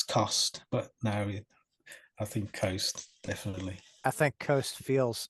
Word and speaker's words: Khost: like exactly yeah but yeah Coast okay ghost like like ghost with a K yeah that I mean